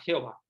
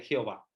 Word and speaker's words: Jehová: español empezaron a llamar Jehová porque era mucho más fácil llamarle Jehová la W como una B la H como en español no la pronunciamos no la pronuncian y